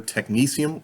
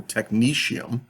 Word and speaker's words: technetium: pronunciations you might encounter it is not pronounced technetium you'll usually hear it either technesium or technetium so either an S sound or an sh sound and the interesting thing